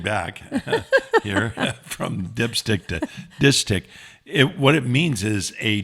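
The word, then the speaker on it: distich: A dishtic is two line, or dishtic is actually how it's pronounced.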